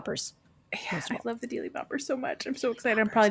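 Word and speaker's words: Deely Boppers: the term Deli Bopper to learn how to spell it, it's DEE, 2 E's, LY, Boppers. Deli Boppers.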